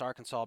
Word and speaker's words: Arkansas: about the fact that it's Arkansas because of the French and that's some in our Kansas it's actually legal to pronounce it Arkansas Public meetings well I'm not in Arkansas what and I will leave the resistance on this okay pronounce it like a human I'm sorry English but maybe you should have some consistent writing rules or something no especially when Kansas exists right next to it it's